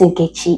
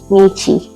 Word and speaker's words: Ni: All right, so for those people that don't know how to pronounce the name that are calling it, it is not ini, it's only ni. So ni for short.